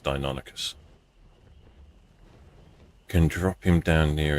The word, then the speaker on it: Deinonychus: I still think Dinoxys sounds better, but I think it's actually pronounced Deinonychus.